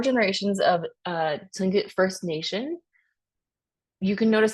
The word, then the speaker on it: Tlingit: But here in parentheses is the way to pronounce these names. So Tlingit, Tsimshian, Haida, Kwakiutl, Kwakiutl, and Salish, and then the Bella Coola.